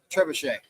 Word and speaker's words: trebuchet: Tree bucket. What do they call that? Trebuchet. A trebuchet. Spelled like a tree bucket.